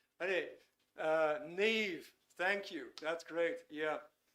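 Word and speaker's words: Niamh: I'm inclined to say Niam, but I know that's not I know that's not the correct pronunciation. Anyway, Neve, thank you.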